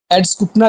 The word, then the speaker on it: Eduskunta: तो फिनलैंड की जो पार्लियामेंट है उसको एड्सकुटना कहते हैं, एड्सकुंटा इसका नाम है, आप इसकी स्पेलिंग लिख लें, EDUSKUNTA, एड्सकुंटा।